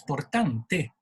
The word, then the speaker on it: Portante: es portante o portante, no hay duda ninguna, es portante, por la simple razón que es un apellido italiano y soy de origen italiana. Los franceses cuando lo pronuncian, como no pronuncian la E final, que es muda, dicen portante. Me lo transforma, me lo traducen en cierto modo, pero mi apellido es portante.